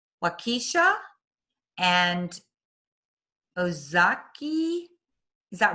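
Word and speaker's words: Ozaukee: development in this is difficult for me to pronounce wakisha and ozaki is that right ozaki yes okay and washington counties she graduated from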